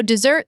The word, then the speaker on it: dessert: So dessert, the food, and dessert, the action, share the stress on the second syllable.